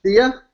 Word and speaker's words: Sia: Sia?